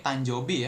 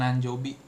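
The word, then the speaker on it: 誕生日: Ini tanjobi ya bukan nanjobi.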